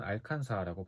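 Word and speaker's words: Arkansas: 그곳으로 말할 것 같으면 미국 아칸소. 미국인들은 알칸사라고 발음.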